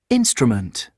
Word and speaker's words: instrument: Because we're saying instrument. We're not saying instrument, okay? So that is the thing that goes with the stress syllable.